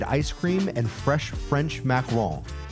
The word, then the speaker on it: macaron: Haute Sweets for that good local-made ice cream and fresh French macaron. It's not pronounced macaroons, those are coconut.